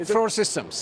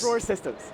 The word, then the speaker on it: Frore Systems: I'm here with Seishu from Frore, how do you pronounce it? Frore Systems. Frore Systems.